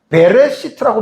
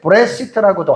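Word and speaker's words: בראשית: 모음 두 개가 쉬거든요 이거는 꼭 발음을 해야 되는 것은 아니고 묵음으로 넘어가는 경우도 있어요 그래서이 이것을 묵음으로 하면 브레 브레 시트라고 하고 이거를 음으로 하면 베레 시트라고 합니다는 저는 계속 베레시트 여러분들 사용했는데 그것도 괜찮아요 베레 시트라고도 괜찮고 브레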